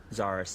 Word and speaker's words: Zarus: Let me get the pronunciation right. Zarus? Zarus, yeah. Zarus.